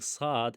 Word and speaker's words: ص: Now the articulation point, the articulation point I will say that the letter S is pronounced when the tip of the tongue touches the inner bottom of the lower front teeth and the air flows